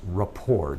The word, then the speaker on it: rapport: vocab word for you Rapport it looks like report but the T on the end is silent it's just Rapport David what is Rapport